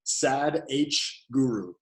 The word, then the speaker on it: Sadhguru: is spelled Sad, S-A-D, Sad H Guru. Sadhguru is how you say it, but it's spelled Sad H Guru.